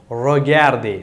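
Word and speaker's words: regardez: முதலாவது பார்த்தீங்களேயானால் ரொகார்தே எவ்வாறு சொல்லுவீர்கள்?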